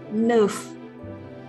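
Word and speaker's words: neuf: a yo yah kemudian angka sembilan angka 9 itu nuvve Oh iya ini semuanya berbunyi nih jadi kita bisa dengan mudah melafalkannya ya karena kita sudah akrab juga nih dengan bunyi dan sebagai orang asli Sunda nah kemudian dipertemukan dengan huruf N dan f dan diangkat 9 ini semuanya dibunyikan Hai Sis Sept with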